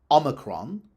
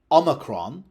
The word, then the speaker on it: omicron: The overriding default rule in Anglo-Latin is that unstressed syllables are reduced, which means you would expect pronunciation C or F rather than A or E. You would expect Omicron rather than Omicron.